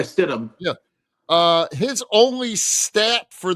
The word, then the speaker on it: Stidham: Yeah, Jared Stidham, how do you say it? Stidham? Yeah, Stidham.